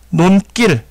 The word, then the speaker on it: 논길: 분명히 발음을 해보면 논길 해서 여기를 된소리로 발음을 한다라는 건 확인해 볼 수가 있겠습니다.